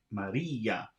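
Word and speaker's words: María: so uh that's 32 and they have Maria written but it's without an accent so it's wrong it should have an accent to indicate that e is the loudest sound in that word Maria and now we are at number 34.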